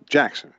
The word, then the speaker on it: Jaxon: You got him as Jacob or Jackson? I'm sorry, Jackson. Yeah, Jackson. It could be. Yeah, it's spelled Jaxon.